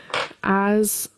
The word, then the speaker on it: as: Something to keep in mind, as is written with an S. However, the pronunciation is like the Z sound, not the S. So, we don't say as I went as as. So, similar to jazz like jazz music as is with vibration we have the Z sound as.